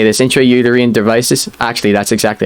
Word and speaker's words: intrauterine: entry i don't know how to say this intrauterine devices actually that's exactly how you say it